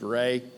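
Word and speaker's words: Reaugh: R-E-A-U-G-H is pronounced Ray.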